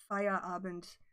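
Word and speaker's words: Feyerabend: you are then like it's it's fire oven you're it's not your free time and it's just kind of funny that like faya abend um is not spelled like that but it's the same word and we'll also touch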